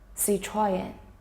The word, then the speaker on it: Citroën: What's making people puzzled is Citroën is French, so there must be some letters that don't sound the way they usually do or aren't said entirely. But as far as French words go, this one is actually simple.